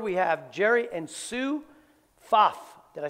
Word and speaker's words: Pfaff: We have Jerry and Sue Pfaff. Did I say that right? It's P-F-A-F-F, but it's pronounced Pfaff.